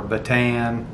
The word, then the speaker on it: Bataan: You probably have heard before pronounced Bataan or Bataan. The way that it's pronounced in the Philippines, as close as I can pronounce it, is Bataan.